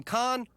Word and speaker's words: Khan: his pilot i am khan supanusynphone hmm so that's pronounced khan right as the show went